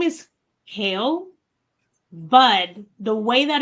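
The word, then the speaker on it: Khal: I like has a name his name is hail but the way that it's written is k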